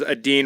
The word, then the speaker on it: Adine: John Adine, and I believe it was Adine rhymes with mean, if I'm correct.